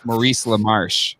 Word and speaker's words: Maurice LaMarche: It's Maurice LaMarche, Jack. Maurice. It was French.